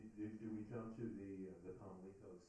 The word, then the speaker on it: Pamlico: Pamlico. Yes. Pamlico. So the accent is on the first syllable. Yes, and it's not leak, it's lick.